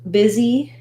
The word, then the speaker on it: busy: Both busy and business have the letter S saying the Z sound.